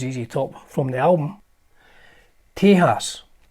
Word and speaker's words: Tejas: top from the album Tejas I'm told this pronounced tears probably my favorite is